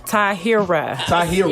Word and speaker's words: Tahir: Taheera. Yeah, he had me messed up. That's why I was saying your name wrong. It's an Arabic name. It's Taheera.